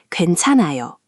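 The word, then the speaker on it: 괜찮아요: Four syllables. Perfect on the first try. Another useful one is gwaenchanaeyo gwaenchanaeyo, meaning "it's okay" or "no problem."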